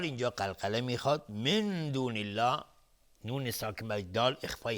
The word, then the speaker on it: الله: بعضی اینجا الله رو مفخم تلفظ میکنن و این اشتباهه چون قبل از لفظ جلاله کسره اومده. میگیم من دون الله، دون الله، من دون الله. دهان از هم باز میشه به خلاف وقتی که مفخم هست دهان جمع میشه. اینجا دهان از هم باز میشه که نازک تلفظ میشه.